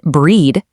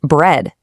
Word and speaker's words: bread: Next, you aren't eating breed. You're eating bread.